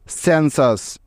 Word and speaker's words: census: আমাদের প্রথম উদাহরণ, CENSUS, সেন্সাস। এখন প্রশ্ন হলো, আমরা বুঝব কিভাবে যে এই শব্দটার উচ্চারণ সেন্সাস হবে নাকি ক্যান্সাস হবে, তাই তো?